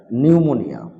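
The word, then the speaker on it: pneumonia: be silent in the time of pronunciation P silent নিউমোনিয়া মানে নিউমোনিয়া psychology silent পিল silent মানে মানুষ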